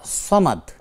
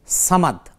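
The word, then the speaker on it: صمد: খুব ছোট্ট করে বোন এখানে সামাদ আর সামাদ শব্দটা হলো সদ দিয়ে আর যদি এটাকে বাংলায় যদি দেখেন তাহলে সেখানে ছয় দিয়ে লেখা অর্থাৎ চামাদ আরবি হলো সামাদ আরবি শব্দের কোন বাংলা উচ্চারণ হয় না তো সেজন্য কুলহু আল্লাহু আহাদ আল্লাহুস সামাদ এই সদ দিয়ে উচ্চারণ করবেন সামাদনা আশা করছি আমাদের বোন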